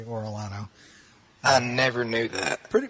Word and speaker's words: Orellano: me uh orano is a Spanish name it's not Italian it's actually orano but nobody pronounces it correctly so I just say orano I never knew that